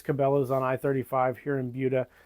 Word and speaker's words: Buda: It's pronounced Buda, not Buddha or anything else, but Buda.